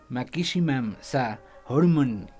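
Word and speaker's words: マキシマムザホルモン: Se llaman Maximum de Hormone, o la pronunciación le dicen Makishimam Sa Hormone.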